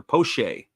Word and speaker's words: Poche: Looks like Poche or Poche is how they say his name.